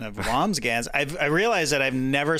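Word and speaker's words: Wambsgans: Yeah, I said Wamsgams. It's Wamsgans. Wamsburger. Oh, is it? Okay. I think, no, there's an N or an M. It's hard to say. It's just two syllables.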